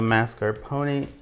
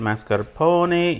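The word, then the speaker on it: mascarpone: Mascar pony in Italian or mascar pon. I'm used to hearing it called mascar pony because I'm Italian and that's how my family said it.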